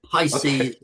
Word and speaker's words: Pisces: Yeah, Pisces. Did I pronounce it correctly, James? Yeah, you did. Pisces as in the zodiac, the sign of the zodiac.